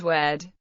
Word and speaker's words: wadi: Classical Arabic wadi is pronounced in present-day Maghrebi Arabic as wed.